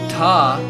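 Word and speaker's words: dha: these psych solfege system the trickiest ones to pronounce are ta the sixth because it's d h it has an aspirated consonant to it and in contrast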